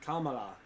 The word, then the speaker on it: Kamala: All the A's are Kamalaism. Kamalaism. Don't try to get some fancy pronunciation of any of those A's. All three are A's.